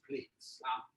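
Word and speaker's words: Healthy Platz: Healthy Plats. Sure. Healthy Plats. P-L-A-T-Z. He wants it to be pronounced as plates. Plates. Because he puts the Z there so that it's stylized.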